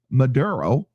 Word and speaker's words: Maduro: capture of President Nicolas Maduro Did I say it right? You did.